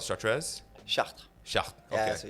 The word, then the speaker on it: Chartres: Chartres. Chartres. Okay. Yeah, so you don't pronounce the E and the S at the end.